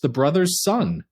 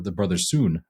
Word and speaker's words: The Brothers Sun: a new show with my wife on Netflix the brother's son um or the brother soon actually because that's the way they pronounce it it is fantastic man this is